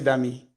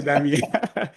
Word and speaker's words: Dami: So the way to pronounce my name is Damilola, but you can just say Dami because I find many people just say Dami. So just take the first four characters and say Dami.